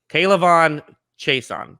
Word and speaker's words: K'Lavon Chaisson: K'Lavon Chaisson.